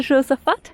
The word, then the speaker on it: Josafat: All right, so this is the Igreja São Josafat. Is that how you say it, Josafat? Yes.